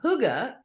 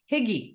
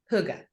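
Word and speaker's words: hygge: relaxed homey atmosphere and Huga for those of you who don't know what Huga is it it looks like it should be pronounced higgy right yeah Hy gde is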